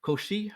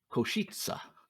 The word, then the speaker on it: Košice: Koshi, is that how you say it? Košice.